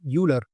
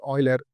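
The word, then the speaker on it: Euler: the word Oiler as uler but I think the perfect pronunciation for that is Oiler you need to pronounce it as o i l e r whereas when you write it you have to write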